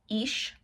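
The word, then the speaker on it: Ix: Okay, so pronunciation is Ish.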